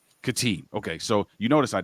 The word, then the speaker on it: Khatib: something do me a favor Pro pronounce your pronounce your last name katib katib okay so you notice I didn't say it